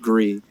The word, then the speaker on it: Gris: It's spelled Gris, but I think it's pronounced Gree.